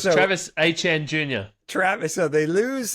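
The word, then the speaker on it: Etienne: It's not ETN. What is it? What is it? I'm going to have to find that clip for you. Okay. The correct way to say Travis's name, we found out from Travis, is actually HN.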